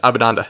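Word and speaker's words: Abhinanda: Abinanda? Yes, Abinanda.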